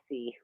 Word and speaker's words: Cherisse: But her name is spelled Cherisse. I'm just looking but up. You pronounce it Cerisse.